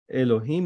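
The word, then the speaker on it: אלוהים: in a different stages Elohim is one because he's God you don't even in reading the sound you don't divide it you say one time because it's God Elohim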